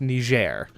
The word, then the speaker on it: Niger: be perfectly correct here you would have to adopt the French sounding okay so it's its official language is French so that is why it is pronounced ner um so there you